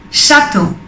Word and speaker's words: château: Seguimos con la CH, que se pronuncia como si fuera el sonido sh. Chateau.